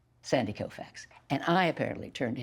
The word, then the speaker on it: Koufax: I mean, I didn't know anything about sports, so I pronounced it the way it was spelled, which is Koufax.